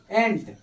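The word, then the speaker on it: ant: फिर ए एन टी, एंट, ये क्या है, ए क्या है, वॉवेल है या कंसोनेंट है, वॉवेल है।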